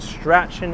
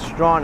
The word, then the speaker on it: Strachan: And this is not pronounced Strachan Avenue, it's Strawn Avenue.